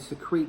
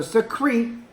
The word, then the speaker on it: secrete: And we'll learn more about what the ladybugs secrete things to protect themselves, okay? So secrete, again, produce and discharge, okay? Secrete, 2 syllables, secrete, okay? 2 syllables.